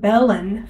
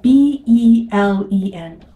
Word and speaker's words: Belen: Our town was named Belen for a reason, because our founders wanted it to be named after Bethlehem.